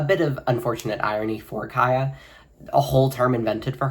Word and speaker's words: Khia: it is a bit of unfortunate irony for Kaya. A whole term invented for her, and people don't even know how to pronounce her name.